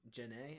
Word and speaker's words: Janae: I pronounce Janae. It has an accent over it.